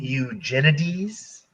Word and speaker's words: Eugenides: lap i love jeffrey tanya fumbles with the pronunciation you mean eugenides yes yes definitely i'm so stupid come on